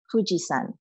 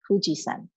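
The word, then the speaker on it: 富士山: And if we are referring to Mount Fuji, we pronounce it as Fujisan. Okay, Fujisan.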